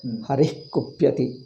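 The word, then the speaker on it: हरिः कुप्यति: You see, Harihi Kupyati, when you say Harihi, Purti Visarga, we are pronouncing it complete. But here there is a chance. But here Bhandarkar has not covered. Harih Kupyati. Harih. The Visarga should be half. Immediately it is taken over by ka.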